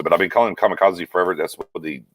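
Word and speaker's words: Kazee: KZ is the pronouncer, is the actual way you pronounce it, but I've been calling him Kamikaze forever.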